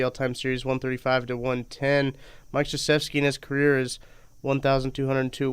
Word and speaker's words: Krzyzewski: It's the fact that it's pronounced Krzyzewski and it's like KRZ.